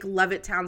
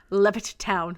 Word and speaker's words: Levittown: Why do you say it like that? Levit Town. Levittown. Levittown. Levittown. It's literally spelled Levittown. I know. But you say Levit Town. Levit. It's Levittown. Levittown.